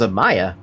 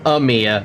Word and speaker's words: Amiya: The AI overview is saying Amiya, and I'm like, are you dumb? That's not how you pronounce that.